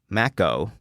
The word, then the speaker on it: El Maco: Is it supposed to be pronounced like taco, or is it supposed to be pronounced like Mac? I don't know. I think it's like Mac-O, like the Mac-O, like McDonald's taco, exactly.